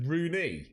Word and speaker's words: Rooney: Well, it's actually supposed to be pronounced Rooney or Rooney.